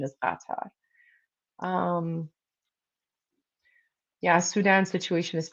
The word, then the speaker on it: Qatar: How do you pronounce katar? It's It's literally pronounced kata. Oh my gosh. If you think it's pronounced cutter, then like oh that's awkward.